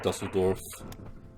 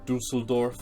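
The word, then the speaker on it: Düsseldorf: gladbach once they've taken dusseldorf or dusseldorf i think is how you pronounce it expand onwards ball attack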